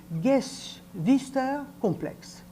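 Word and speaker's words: Geschwisterkomplex: période sexuelle la première alors en allemand mais vous vous excuserez ma prononciation ça se dit gues vister complexe c'est une expression qui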